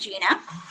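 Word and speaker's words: Jijin: is Gina Chang um it spelled a little strange as j-i-j-i-n-capital a but it's pronounced Gina this is my email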